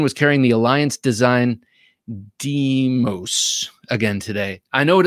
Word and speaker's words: Deimos: Christine was carrying the Alliance Design Deimos again today. I know what it looks like. Can't pronounce it. How do you pronounce that? Deimos.